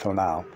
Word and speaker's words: tonal: Mexico I knew that the toe now pronounced pronounced till now was thought to be